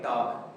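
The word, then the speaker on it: talk: मालूम नहीं था कि यहां पर अगर एल आ जाए और एल के बाद के हो तो एल जो है वो अपना साउंड खोल देता है।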